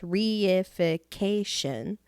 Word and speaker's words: reification: Reification, pronounced reification, is what happens when you think of anything